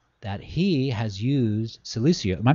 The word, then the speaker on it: Silicea: Or am I pronouncing it close? It's Silicea.